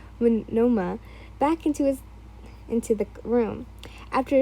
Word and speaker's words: Monoma: She looked back and gave a small wave to the few people who walked out and dragged Pneumonia, I keep saying his name wrong, Monoma, back into the room.